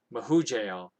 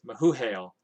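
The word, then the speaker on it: Mehujael: an old story um i don't think the j is actually pronounced like a j i think it's pronounced like the like an h so i think it's as given as mahu hail and mahu hail was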